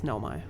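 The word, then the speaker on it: Nomai: my masks attached also I don't know if I've been pronouncing Nomi correctly it could be like n there's like different ways but it's Nomi it's Nomi now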